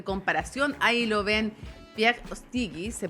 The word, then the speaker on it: Ostiguy: Ahí lo ven, Pierre Ostigui, se pronuncia su apellido, politólogo y, como decíamos, además